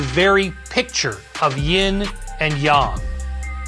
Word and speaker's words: yang: picture of yin and yang the latter rhymes with song and not saying this